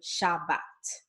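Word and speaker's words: שבת: with the letter A, it's going to be pronounced as A, as in Shabbat, okay?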